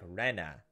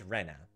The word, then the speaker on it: Rena: way it's pronounced is with a flat E like Rena I think we're pronouncing it wrong I think it's Rena it was her at